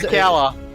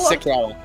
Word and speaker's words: Sikella: Kella. Kella. Okay. Kella. All right. No, Sikella. Is it Kella? No, Sikella. Sikella. Okay, Sikella.